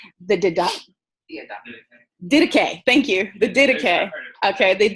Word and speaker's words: Didache: The Didache. Okay, the Didache is how I usually say it, okay?